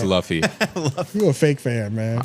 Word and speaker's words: Luffy: it's l u f it's Luffy you a fake fan man I even like